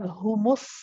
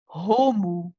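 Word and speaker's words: هُمُ: Humu, both dhammas, we pronounce them both as humu. Humu. We don't say homu, ho. This is very common too. So remember, dive into the dhamma straight away and make a proper u sound.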